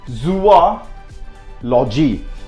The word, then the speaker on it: zoology: itself like a zoological that pronounce this subject wrong there is nothing like zoological H in English that should be look I read that for you that should be zoo logy that should be Zoo ah logy so I studied zoology